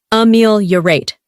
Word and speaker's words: ameliorate: Our final word is ameliorate, pronounced ameliorate.